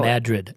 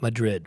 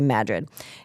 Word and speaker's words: Madrid: Now Madrid, not Madrid. It's spelled Madrid like the Spanish town, but it is they it's not how they pronounce it. They say Madrid.